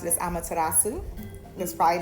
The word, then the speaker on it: Amaterasu: um connected to and i don't know i pronounce it as amaterasu that's probably not correct okay but she is